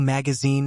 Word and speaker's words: magazine: Magazine has stress on the last syllable.